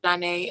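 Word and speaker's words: Zharee: Name is pronounced Janae. Say that again. It's pronounced Janae.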